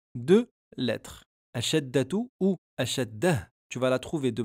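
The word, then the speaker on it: شدة: On aura donc à la prononciation deux lettres. Ashaddatu ou ashaddah.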